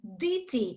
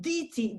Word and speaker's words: діти: And in Ukrainian, we pronounce the E, diti. In Russian, it would be deti.